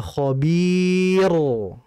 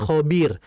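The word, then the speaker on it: خبير: lihat huruf yang sebelumnya ini banyak orang yang salah baca kadang banik tebal contohnya al-adiyat innabahum bihim yaumaidil l khobir ah itu salah tebal mungkin karena entah karena mungkin enak bacanya tebal tapi hakikatnya itu tipis karena dilihat huruf ketiga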